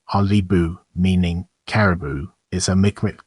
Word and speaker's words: Qalipu: here the calip of First Nation pronounced alibu meaning Caribou is a